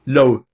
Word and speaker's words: Löw: O e j e a t u d a O sobrenome é Löw. O d o w, Löw. Assim se pronuncia Löw, mas se escreve assim, Yehuda Löw.